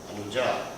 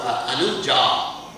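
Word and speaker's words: अनुजा: Anuja means son. Anuja means sister, feminine, masculine. And sometimes in Hindi they say Anuj, right? They take off the A.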